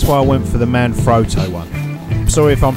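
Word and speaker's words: Manfrotto: in the Italian Factory is properly pronounced men froto but I'm from London England so I'm going to roll with man froto okay there appears to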